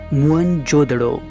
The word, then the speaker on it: मोहनजोदड़ो: कोशिश करते हैं मोहनजोदड़ो शब्द का सही उच्चारण है मुन जोदड़ो और सिंधी भाषा में